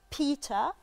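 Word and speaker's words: Peter: اسم واحد اسمه بيتا اللي هي الار في البريتش اكسنت مش بتتنطق الا لو جه وراها اي او اي او اي او او او يو ايو يعني اوكي ايو هي دي لو جت ايو ننطق الار ما جتش ايو ما ننطقش الار اوكي تمام بيتا الار بتبقى متعلقه خالص بيتا بايبر ده اسم بني ادم لا واسم بيتر ده اصلا منتشر في مصر قوي بس بيتقال بيتر يا لا بيتر بيتر, بيتر والله عايز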